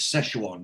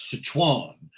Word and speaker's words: Szechuan: Actually, he says, but that's, well, I mean, the word is Szechuan, but the way that he pronounces it, he screws it up. Mm. And he goes, Sichuan.